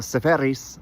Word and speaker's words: Seferis: Uh, Sepheris, I should say his name right, was uh, fantastic.